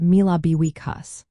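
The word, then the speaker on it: míle buíochas: This is pronounced as mille buíochas.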